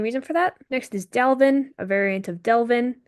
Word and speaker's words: Delvin: Next is Delvin, a variant of Delvin, which is just kind of a name that rhymes with Kelvin.